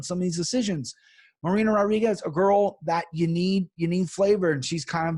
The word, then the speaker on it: Rodriguez: And Rodriguez, and that's how you got to say her name. Rodriguez is not Rodriguez.